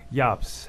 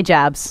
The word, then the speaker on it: Jabs: studio with me how do you say your last name Ys Ys okay how are you cuz you know Americans they say Jabs they would say Jabs probably I'm used to this